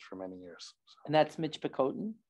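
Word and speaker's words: Michipicoten: pronounced yeah um I'm having to relearn the pronunciation that I've used for many years and that's Mitch bakoten correct thank you so that's the only nation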